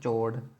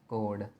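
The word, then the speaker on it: chord: इसको क्या बोलते हैं, चोड़, क्योंकि सी एच होता है ना, च आ जाता है। तो ये चोड़ नहीं है, समझे? ये क्या है, कोड। सी से नाम है, ठीक है, एच साइलेंट है।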